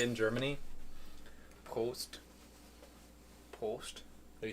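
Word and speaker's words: Prost: r o s t post and what's that mean cheers post yep don't sound like you gotta roll your r from the back of your throat post post post post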